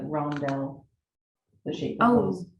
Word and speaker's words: rondelle: I think those are actually considered like rondelle, the shape of Oh, those okay.